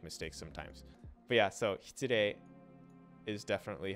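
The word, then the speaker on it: 失礼: But yeah, so hitsurei is definitely how you're going to hear it very, very, very, very, very, very often.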